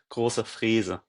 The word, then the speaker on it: Große-Freese: Yeah, and it's pronounced Finn Grosse-Freese.